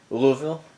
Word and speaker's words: Louisville: This is from Madhouse of Bricks in Louisville, or as the locals say, something like Louisville, all one syllable.